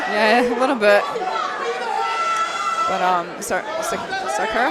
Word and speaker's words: Saracco: But Saracco, how do you say his name? Dino. Saracco, yeah. Saracco.